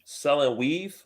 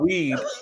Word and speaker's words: weave: I tried I think selling weave like hair, selling hair. Right. Make sure you pronounce that V correctly. Yeah, weave, V, not weed, not weed, but weave, and right.